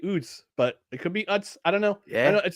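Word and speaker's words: Utz: particularly the Northeast and I don't know how you pronounce it Dustin but I pronounce some OOTS oh yeah that's what chip that's what I do OOTS because because because whenever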